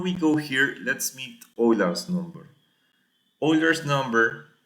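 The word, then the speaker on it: Euler: Now natural logarithms before we go here let's meet Oiler's number. Oiler's number it's pronounced Oiler because Germans is approximately 2.71828.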